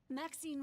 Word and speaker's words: Maxine: Maxine rhymes with queen, She's like, I don't after care, all, I'm and leaving.